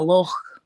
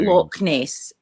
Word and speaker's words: Loch: called a lock but in Scotland we call it a look it's like Loch Ness it's not Loch Ness it's look nice well well you know this is spelled it's just that we pronounce the CH definitely right yeah and